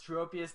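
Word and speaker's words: Tropius: I believe it's pronounced tropus with a long o and it looked like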